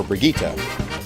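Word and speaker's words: Brigitte: nickname of bridge well I thought her name was originally pronounced Bridget despite the lack of a D in her name so of course you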